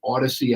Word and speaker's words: Audacy: You've also got us on 101.5 FM KDWN, and do not forget the Odyssey app. It's spelled AUDACY.